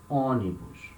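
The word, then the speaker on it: ônibus: o here it has a little sound on oni bush and the two the the two above letter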